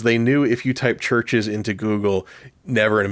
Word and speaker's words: Chvrches: It's pronounced Chvrches. It is a Roman spelling of it. This is the band's explanation. It's a Roman spelling where in the Roman language, the Roman alphabet, V is substituted for U.